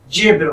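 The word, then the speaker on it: zèbre: में भी हमारे पास जेब्रा होता है। ओके। तो वर्ड हमारा जो है दोनों सेम होगा। जेड के ई पे हम एपोस्ट्रोफी यूज करते हैं और इसका प्रोनाउंसिएशन हो जाता है इन फ्रेंच जेब्र।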